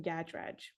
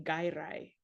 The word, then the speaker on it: Gadraj: this in the future, my name is Gadraj, and in Sweden I say Gairai, and that's really cool because when I'm in England and I say Gadraj, nobody can spell it, and when I'm in Sweden and I say Gairai, everybody just spells it immediately.